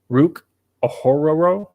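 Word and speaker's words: Ruke Orhorhoro: butchered that but and I promise you that's like about how it is it literally sounds like you're Scooby-Doo saying his last name okay all right he's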